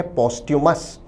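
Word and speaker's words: posthumous: विद्यार्थी शब्द के उच्चारण पर भी ध्यान दें, उच्चारण है पोस्ट्यूमस।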